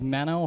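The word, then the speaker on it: Manno: sir my name is mano Andrew's brother Dan son like was mentioned and my name is spelled m NN o not m i n o w like some people like to say and it's a privilege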